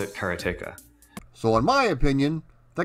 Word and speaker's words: Karateka: word karateka for the last 36 years I've pronounced it just as it looks karateka now I may just be a dumb hick